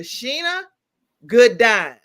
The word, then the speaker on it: Shana Gourdine: Sheena Goodine. Dr. Sheena Gdine is our guest today.